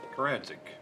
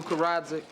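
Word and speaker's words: Karadžić: I'm looking for, how do you pronounce that? Karadzic. It's Slavic. All Slavic names are pronounced exactly as they're spelled.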